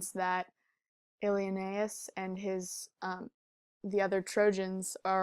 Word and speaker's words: Ilioneus: Alienes, and the last, this whole part of his name is actually only one syllable, so that's how it works in the meter. But anyway, the greatest Ilioneus, or you could take